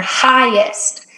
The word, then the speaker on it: highest: tricky word in there highest the g is silent i don't know why but it is mount everest is the